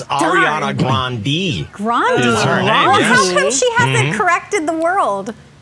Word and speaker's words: Ariana Grande: grande i would say is it ariana no it's ariana grande you're just your dislike is noted and yet she's not changing the family name for you lauren it's ariana grande she hasn't corrected the